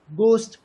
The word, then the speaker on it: ghost: But there are some other words like ghost, ghee. The letter G is pronounced while the letters H is silent.